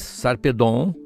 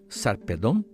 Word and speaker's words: Sarpedon: no início desse podcast, nós avisamos que há várias maneiras de pronunciar os nomes gregos. No caso desse herói, que é muito importante, aliás, uns dizem Sarpedon, em inglês Sarpedon, uns aqui no Brasil usam Sarpedon, ou Sarpedon, e outros, como os gregos, como os